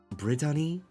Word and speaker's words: Brittany: Brittany. That's how they say it. Bridani Rui Umo.